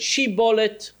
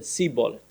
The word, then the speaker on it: shibboleth: It turns out that those two tribes pronounced the name of the plant shibboleth slightly differently. One of them said shibboleth, one of them said seaboleth.